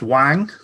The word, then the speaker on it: Wing: It didn't have Lewis Wing on there, but I think you'll find it's pronounced Wang. Lewis Wang.